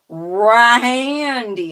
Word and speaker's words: Rahyndee: It's Rahandee, and it's spelled Rahyndee.